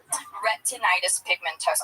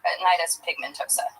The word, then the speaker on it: retinitis pigmentosa: Retinitis pigmentosa. I know it sounds like a Harry Potter spell. Retinitis pigmentosa.